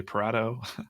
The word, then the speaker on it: Pareto: that's the Pareto Principle I think that's how you pronounce that Pareto Pareto you say Pareto I say Prado if you don't know